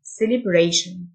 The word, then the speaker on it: celebration: احتفال celebration، T-I-O-N تنطق شن، celebration.